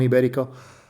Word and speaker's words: ibérico: Jamón ibérico iberico jamón ibérico is a better pronunciation of it there this can be